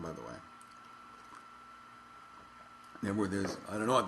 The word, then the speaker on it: Knebworth: Cano you know um but I believe it's actually nworth not korth um but so they